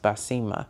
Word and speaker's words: Baseemah: phonetically for them because it's pretty much spelled the way that it's pronounced by Sema.